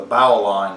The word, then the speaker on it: bowline: to tie today the bowline knot or the bow line not or the bowline knot is how I actually pronounce it the bowline knot is